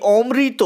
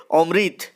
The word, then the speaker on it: অমৃত: হবে অমৃত ও ইশাব এই অমৃত উচ্চারণটা আমরা বাঙালিরা করি হিন্দিতে এই গল্প অনুযায়ী এটা হবে অমৃত তো অমৃত ও ইশাব